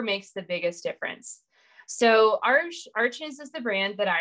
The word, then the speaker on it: Arches: it's not actually pronounced Arches. That's just what we think it is. It's Arche or something. It's a French brand, but Arches, that's what I call it.